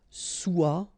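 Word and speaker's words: sois: So être will become soit. Remember, final S is not pronounced.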